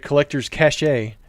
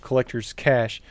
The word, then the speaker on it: Collector's Cash: Oh, also in that video, I said Collector's Cache instead of Collector's Cash, and that one I definitely got wrong.